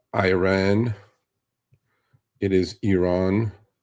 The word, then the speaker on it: Iran: media, it is not Iran, it is Iran. It is not Iraq, it's Iraq. At least pronounce it correctly.